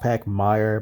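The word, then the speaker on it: Pachmayr: These have the Pac Mares on them. I've heard it pronounced Pac Meyer, but I say Pac Mare.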